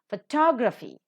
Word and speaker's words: photography: first syllable is accented photography the second syllable is accented autograph the first syllable